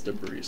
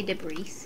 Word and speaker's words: debris: have to clear this debris over here but it's a thousand so did you say debris mhm this is a sofa it's debris you don't pronounce the S have I ever told